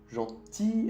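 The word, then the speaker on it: gentille: Gentil es como pantalla en español. Gentil, pantalla. Tenemos que poner dos L's. Cuando escuchas el sonido I en francés, hay dos L's. Entonces, pasamos de gentil a gentil con un L y un E.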